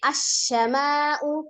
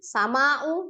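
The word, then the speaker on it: السماء: Jadi bacaannya sama'u tapi bacanya asyama'u, padahal alifnya tidak ada tanda bacanya. Ya, tapi kita tidak boleh membaca langsung sama'u begitu.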